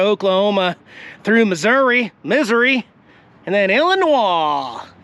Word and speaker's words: Illinois: through Missouri, and then Illinois. Did you know that the S is silent in Illinois? No, I didn't. I just do it to piss people off. I'll get a bunch of comments. Illinois, okay?